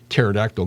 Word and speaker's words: pterodactyl: hear it when a pterodactyl goes to the bathroom because the pee is silent i told my kids